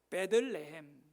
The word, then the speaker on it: 베들레헴: 그러니까 벳과 레헴을 합치면 베들레헴, 복합어가 되어 베들레헴으로 발음하는 겁니다.